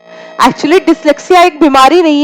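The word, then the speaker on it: dyslexia: इसका सही प्रोनाउंसिएशन क्या है? डिसलेक्सिया। डिसलेक्सिया किससे संबंधित है?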